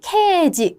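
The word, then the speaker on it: 掲示: 그다음에 케지, 개시. 요것도 이제 많이 헷갈려 하시는데요. 그렇죠? 이거를 시가 아니라 지라고 읽는다는 거.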